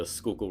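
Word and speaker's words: Schuylkill: Um, and, uh, the main one here in Philadelphia is in Fairmount Park on the west side of the Skookul River, and that's how it's pronounced.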